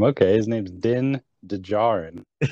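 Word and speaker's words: Djarin: d is out uh how do you pronounce his name is it den dejar or is the d science i think i think the d is silent so is then den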